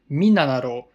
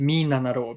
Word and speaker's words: 3776: Now, 3776 is pronounced Minanaro because mi as in mitsu, which means three, na as in nana, which means seven, and ro as in roku as in six.